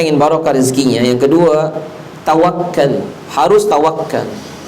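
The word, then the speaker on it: تَوَكُّل: Yang kedua, kalau kita ingin barokah, rezekinya, yang kedua, tawakal. Harus tawakal. Tawakal pakai kaf di tasjid, tawakal. Karena kalau bacanya tawakal itu artinya pura-pura tawakal.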